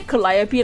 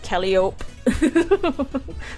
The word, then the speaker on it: Calliope: It's gonna be sang by Mori Calliope. I used to say Calliope like Calliope.